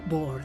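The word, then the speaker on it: Boer: las palabras la palabra bor significa campesino en inglés su pronunciación es similar a la palabra bor patán ante la amenaza de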